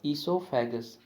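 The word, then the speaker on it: oesophagus: जो ईसोफेगस की स्पेलिंग है इसमें ओ साइलेंट रहेगा, ठीक है। हमारा जो प्रोनाउंसिएशन रहेगा यानी कि इसको जब हम बोलेंगे स्पेलिंग को तो वो ई से शुरू करेंगे, तो इट्स ए ईसोफेगस, ठीक है। ओ को हम नहीं बोलेंगे यानी कि ओ इज़ साइलेंट, तो ओ जो है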